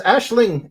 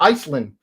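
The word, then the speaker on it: Aisling: My main character's name is Ashling, and uh everybody calls her Iceland.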